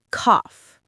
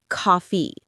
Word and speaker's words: cough: Cough. Not coffee.